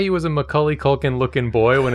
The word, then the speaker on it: Macaulay: - It's Macaulay like cauliflower.